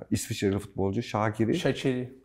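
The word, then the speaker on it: Shaqiri: E İsviçreli futbolcu Şakiri Şakiri nasıl gerçek şa çiri diye okunuyor orada q ç diye okunuyor şiri ç ile mesela o Artık bizde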